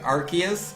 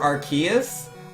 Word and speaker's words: Arceus: it's one thing when it's like Arceus or Arceus like those are completely different is you're not just stretching it you're changing how it's pronounced there's such a huge